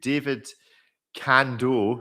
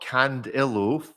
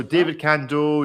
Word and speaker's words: David Cando: And on that note, let's go to David Cando, not Candillo. For years, I've been inserting an I in there for some reason. Not quite sure why. So David Cando, DC1 and DC6 titanium watches, avant-garde haute horlogerie.